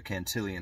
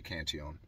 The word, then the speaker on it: Cantillon: of centered around the cantion effect or the cantillian effect is the way i like to a lot of people like to say it i like to say cantion because that's the way he pronounced it anyway